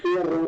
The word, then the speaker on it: Tierra: It's Tierra, but depending on where I'm from, which way should I pronounce it? Right. I've been practicing rolling my R's just for this, okay?